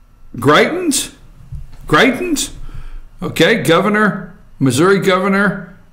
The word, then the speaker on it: Greitens: picture up there and and how do I pronounce his name g rei t en s Greitens Greitens okay governor missouri governor of Greitens die